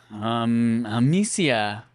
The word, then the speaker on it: Amicia: Amicia.